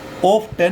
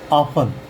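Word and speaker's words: often: जैसे इसको ऑफ 10 नहीं पढ़ेंगे। इसको ऑफ ये चांद बिंदु वाला आफन पढ़ेंगे। इसमें टी साइलेंट रहेगा।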